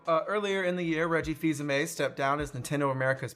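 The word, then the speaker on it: Fils-Aimé: I totally messed that up Fils-Aime. early. Fils-Aime. I called him like Fils-Aime, which I'm sure he gets all the time. Reggie Fils-Aime. It does look like Phil's aim.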